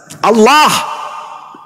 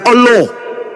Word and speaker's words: Allah: Allah bukan Allah. Ini yang sering baca huruf Oin dalam bahasa Arab ini bacalah Allah. Bukan salat. Salat bukan huruf O.